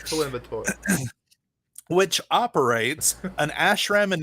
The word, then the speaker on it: Coimbatore: And I pronounced that correctly. Don't worry. Coimbatore. It's Coimbatore.